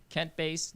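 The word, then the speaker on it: Kent Boese: So social media, on Twitter, I'm KentBase DC, and that's spelled KentBoese DC. Facebook, you can just search my name as well.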